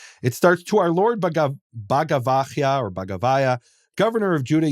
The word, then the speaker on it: Bagavaiah: and it's an Iranian, it's a Persian name, and the Iranologist would pronounce it Bagavaya. Bagavaya, wow.